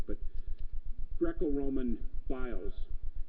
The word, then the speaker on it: bios: we'd say in English biles it's not pronounced that way in Greek but Greco Roman bios it's a genre of